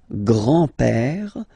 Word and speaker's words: grand-père: Le grand-père. Remember, E accent grave like that. It's this opened père.